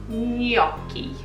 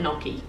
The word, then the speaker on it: gnocchi: yoky right I just thought I'd get the correct correct pronunciation out of the way first because for the rest of the video I'm just going to call it naki you know you're lucky